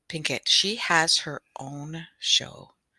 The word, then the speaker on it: Pinkett: not jaden sorry and make sure i'm going to say her name properly jade jada jada pickett pinkett she has her own